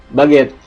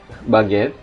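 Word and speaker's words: baguette: Oke jadi di sini kalau huruf g-nya diikuti huruf vokal u a o dibaca G baget egalite glase riger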